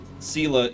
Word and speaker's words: Sela: Sela is how it's pronounced.